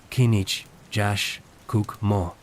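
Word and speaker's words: K'inich Yax K'uk' Mo': Su nombre es Kinich Jax Cook Mo, pronunciado Kinich Jash Cook Mo.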